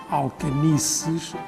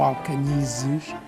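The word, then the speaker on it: Alcañices: de Alcanices, em espanhol, ou Tratado de Alcanices ou Alcanizes, há várias pronúncias para o mesmo nome.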